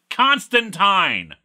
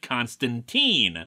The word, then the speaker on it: Constantine: to talk about this his name is pronounced Constantine you are absolutely correct that the Keanu Reeves movie and the popular Matt Ryan version in the arrowverse pronounced it Constantine and guess what they're wrong they're simply a factually incorrect I actually agree that Constantine sounds better is a better pronunciation but that's because I'm an American and Johnny boy is very much a British character where it is Tyne all of his British